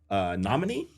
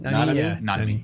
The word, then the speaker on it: Nanami: But one of the people there, she was a big fan of Jujutsu Kaisen, and she had Namini. I feel like I'm saying that name wrong. Nanami. Yeah, she had him tattooed.